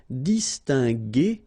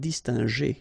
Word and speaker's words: distinguer: here G, okay, because combination of E and R at the end will give you the sound E, okay, G. So that's the reason why we pronounce it distinguer and not distinguer, okay? So U is quite important here, just to give you the sound G, G, G.